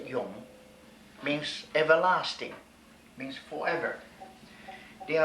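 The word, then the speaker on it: 永: This character pronounced Yung means everlasting, means forever.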